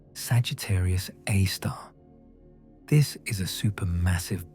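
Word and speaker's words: Sagittarius A*: At the very center of the Milky Way, buried behind thick clouds of dust and gas, lies Sagittarius A, pronounced Sagittarius A star.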